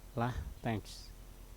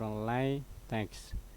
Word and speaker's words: LaTeX: Kemudian menurut informasi yang diperoleh dari situs resmi yang disebut LaTeX, LaTeX which is pronounced LaTeX or LaTeX, atau rhyme with blast or Bertolt Brecht is a document preparation system for high quality typesetting.